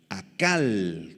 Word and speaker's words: acal: tres palabras en arameo la palabra devorar a cal con k y acento en la segunda a acal significa comer con desesperación